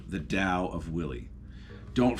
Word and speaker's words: Tao: dao of willy don't feel bad if you think it's called the tao of willy um i was right there with you for years and anybody who's gonna be real harsh with you about mispronouncing the word dao uh just does not